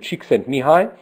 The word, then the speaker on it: Csikszentmihalyi: This is from important work from a researcher named Csikszentmihalyi, and actually that's the proper Hungarian pronunciation, which is always funny for me as a Hungarian speaker, called flow.